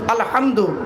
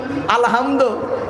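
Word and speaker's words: الحمد: পড়ি আলহামদুলিল্লাহি রাব্বিল আলামিন আলহামদু এই গলার ভেতর থেকে এটা উচ্চারণ করবেন আলহামদু মানে হচ্ছে সমস্ত প্রশংসা আল্লাহ তোমার আর আমরা কি বলি আলহামদু এর মানে শুনবেন সমস্ত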